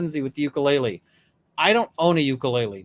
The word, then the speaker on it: ukulele: see um Runkle uh ukulele is a Hawaiian word pronounced ukulele when you say uke